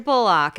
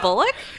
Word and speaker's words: Bullock: And it was Sandra Bullock, and it was like, I think Matthew McConaughey,